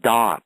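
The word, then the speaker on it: Daat: I am yeah and it's often referred to as dots spelled D A A T and it is said like when the three supernals manifest below the arise out of the chaos they have that first point which is dot which is described as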